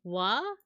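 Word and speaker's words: は: Japanese is interesting so w the one that is R is ha but it's actually like pronounced W it marks the topic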